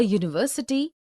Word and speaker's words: university: a hole also a university a union a European a EU a unicorn a useful article because these words University Union European EU unicorn useful begin with the consonant sound similarly we see a